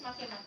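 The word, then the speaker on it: Makemake: So yeah, it is make-make.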